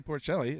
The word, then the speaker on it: Porcelli: Porcelli. Did I pronounce that right? Yeah, Perkelly. Perkelly.